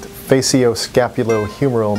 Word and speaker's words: facioscapulohumeral: I'm out you done actually the word is pronounced faio scapulo humoral muscular distrophy or fshd fshd is a disease